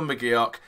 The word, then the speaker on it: McGeouch: Dylan McGee och okay it's dil McGee och and I'm settled on that I've done plenty research now I've spoken to some sort of Scottish fans as well and asked them how to pronounce it I'm sick of butchering names I've been doing it for weeks now especially replays that you're not 100% familiar with so yeah it's dill McGee och although I did